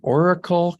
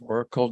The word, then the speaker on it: Auricle: But again, if people are interested in learning more, it's the Oracle Collective, and that's spelled AURICLE Collective, Oracle Collective.